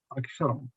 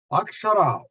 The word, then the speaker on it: Akshara: Akshara means a letter in Sanskrit. It's got 3 syllables. A, Sha, and Ra.